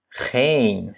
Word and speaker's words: geen: Donc, on a geen, ja? Doublement de voyelle, donc c'est un E long.